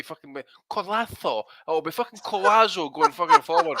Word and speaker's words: Collazo: It was Oscar Collazo we're talking about, but we're talking about his pronunciation. So is it Oscar Collazo? Collazo.